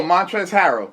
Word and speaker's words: Montrezl Harrell: Or how you pronounce his name? Oh, Montrezl Harrell.